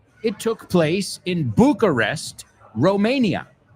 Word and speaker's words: Romania: It took place in Bucharest, Romania. We say Romania, not Romania, Romania.